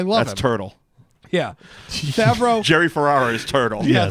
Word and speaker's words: Favreau: Yeah, Favreau.